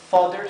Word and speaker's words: fodder: Fíjense que la doble D se pronuncia como una D fuerte. D, fodder. Y la TH es Z.